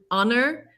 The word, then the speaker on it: honor: it was a harbor but with honor the h is silent so it's a vowel sound so it would be